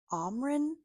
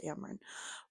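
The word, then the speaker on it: Amren: people pronounce that one differently I've heard them pronounce it omin which I'm like no her name is Amron so full disclosure um and as far as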